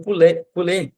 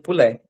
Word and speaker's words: poulet: Não pronuncia o T, né? O lê. Não, não. Esse, esse T ele tá aí para dar esse som do do e forte, pulê, tá?